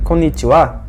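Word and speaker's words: こんにちは: Bem, agora que eu mencionei esse konnichiwa, você talvez tenha notado que, apesar de esse caractere final ser o ha, eu pronunciei ele como wa.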